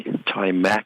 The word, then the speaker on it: Timac: And that's an A, Timac. I have to be careful about my accent. A for Apple. Yeah. It sounds kind of like Apple, Mac, but okay.